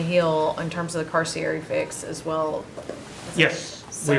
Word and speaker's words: Carcieri: Well, no, Carcieri. that's the way I pronounce it.